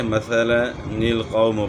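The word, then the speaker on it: مثل القوم: یہاں جو ہے نا اس کا تلفظ بتایا ہے کہ اس طریقے سے مثلا القوم پڑھا جائے گا، یعنی مثلا القوم نہیں پڑھنا، الف اس کا نہیں پڑھا جائے گا، مثلا القوم۔ اسی طرح طوّن اذهب،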